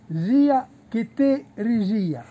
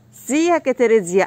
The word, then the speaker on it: zia che te rigia: Cioè, il dialetto è zia che te rigia. Zia che te rigia.